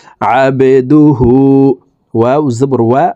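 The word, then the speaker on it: عَبْدُهُ: দাল পেশ দু, হা উল্টা পেশ হু, হার উপরে উল্টা পেশ আছে, তাই ঠোঁট গোল করে এই হাকে এক আলিফ টেনে পড়ব। আবেদুহু।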